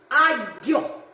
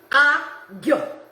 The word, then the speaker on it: aglio: So garlic, aglio, aglio. I mean, not aglio like that, but aglio. So in Italian it's aglio.